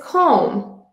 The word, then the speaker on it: comb: the word we don't pronounce it bomb we pronounce it bomb another example is comb comb I comb my hair every day also